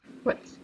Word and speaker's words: what: what white for example but it's much more common these days to just do a clean w sound what what not the